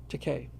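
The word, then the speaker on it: Takei: Teay rhymes with toupe.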